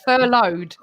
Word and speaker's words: furloughed: It's furloughed. There's no N in it. It's furloughed. Furloughed.